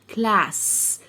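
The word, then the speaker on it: class: يبقى كلا كلا كلاس لو عندك في الاخر مليون اس شوفهم وكانهم اس واحده بنطقها كانها اس واحده تبقى اكلها كلاس كلاس ما حدش يقول كلاس غلط كلاس كلاس يعني اي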